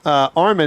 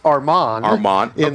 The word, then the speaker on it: Armand: So we kept saying Armin, it's Armand.